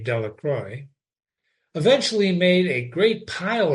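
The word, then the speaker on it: Delacroix: Jones and Dicky delacroy the villagers pronounced his name delacroy eventually made a great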